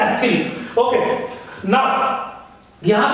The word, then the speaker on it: ethyl: ऐसे ही आप नाम अगर थोड़ा सा लिखेंगे, बहुत सारे लोगों से इथाइल ब्रोमाइड भी बोलते हैं, तो आप अपने हिसाब से कोई भी बोल सकते हैं, बट the correct pronunciation is एथिल।